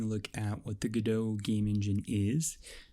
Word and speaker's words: Godot: engine you waited for that's a reference to the stage play Waiting for Godot where it's pronounced Godot which means that I think it should be pronounced Godot some people call it